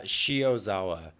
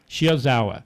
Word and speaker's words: Shiozawa: what your last name how to pronounce that uh shiozawa shiozawa it's actually pretty phonetic okay it is now